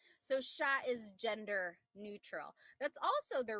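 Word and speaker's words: siya: But the s i y combination that makes a sh sound.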